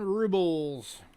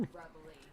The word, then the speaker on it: rubles: Next up is the 10 rubles from the year 2000. Rubbly. It's rubles. It's R-U-B-L-E-I. That's how they spell it. It's rubles, just like Russia.